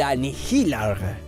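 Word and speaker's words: Annihilaarg: arma conocida como el anilar sí se pronuncia así tal cual bien todo con tal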